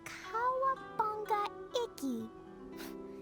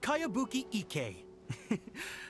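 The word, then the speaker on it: Kayabuki Ikku: By Kawabunga Iki. Yoimiya, this is a really strange name. Who's this Kawabunga? It's pronounced Kayabuki Ike.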